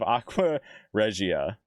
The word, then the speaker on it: Aqua Regia: Aqua Regia.